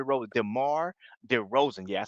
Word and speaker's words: DeMar DeRozan: man hey same question man Demar D Ro Demar de Rosen yeah I said it right this time dear